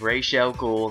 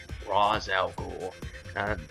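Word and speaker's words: Ra's al Ghul: Rael ghou um and yes I said relle ghoul not rozel ghoul I know some people pronounce that way but uh regardless of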